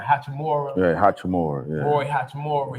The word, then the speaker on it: Hachimura: How you pronounce his name? Hachimura.